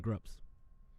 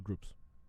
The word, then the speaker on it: Grups: Would You Like Me If I Played Guitar, Down in Flames, Nothing Prevails, and Grups. Is it pronounced Grups or Groups? Grups. It's a Star Trek thing.